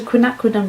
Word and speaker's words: quinacridone: watch the video but I realized I'm not pronouncing my quinacridone so quinacridone rose connect with a lilac or violet Rose